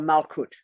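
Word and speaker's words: Malkuth: which is my skin is called malcut m-a-l-k-u-t-h t-h is pronounced tur if i go under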